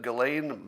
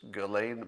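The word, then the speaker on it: Ghislaine: a moment to enjoy all the different ways we can pronounce galaine maxwell's first name jizz lane gizlane just laney glenn kishlane jeez lane any of those are fine i'm gonna go with galen because jizz lane is a little too on the nose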